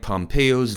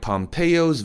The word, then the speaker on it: Pompeo: Mike Pompeo's visit, Peo, 철자는 EO로 되어 있지만 발음은 Peo, AO 발음을 합니다.